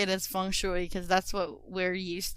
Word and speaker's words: feng shui: the conventional wisdom of how do you say feng shui right that's it yeah because i've heard other people say it as fang feng shui i think it depends where you're from right but i'm just